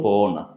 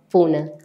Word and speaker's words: Puna: Tú tienes un club de badminton, se llama Club sí, Pona. Puna, Puna se pronuncia, Puna, Puna, sí. perdón, ya no se me olvida más.